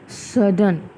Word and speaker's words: sudden: Let's read this word and let's think where is the stress. Sudden, ठीक है, sudden, यू पे जोर पड़ रहा है सिर्फ.